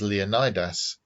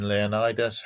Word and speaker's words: Leonidas: played by richard egan i pronounce his name as leonidas because that's how all the movies pronounce it unity of the greeks